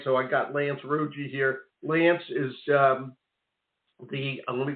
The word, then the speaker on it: Rougeux: It's French, so my dad will say Rougeux, but it's really Rougeux is how we said it.